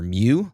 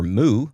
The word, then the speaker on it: Mu: And they pronounce it either Mew, like the Pokemon, or Moo, like the cow.